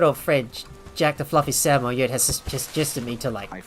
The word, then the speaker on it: Samoyed: mispronounce it, but it's actually a Samoyed.